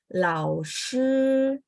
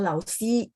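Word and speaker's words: 老师: Makanya teman-teman kalau bilang lao shi, jadi kalau udah ikut kelas saya mungkin tidak akan bilang lao si gitu ya, tapi lao shi, shi.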